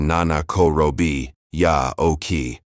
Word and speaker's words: 七転び八起き: Nana Korobi Yaoki, written 七転び八起き. It translates literally to fall down seven times, stand up eight. The pronunciation is roughly Nana Korobi Yaoki. This proverb has been part